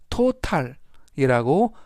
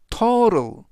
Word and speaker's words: total: 이때 total이라는 단어는 합계, 총액, 발음에 유의하실 점은 total이라고 발음하지 않고요. total, 중간 부분에 있는 t는 트 발음이 아니라 부드럽게 트가 아닌 르, 그래서 total이 아니라 total이라고 발음하시면 좋겠습니다.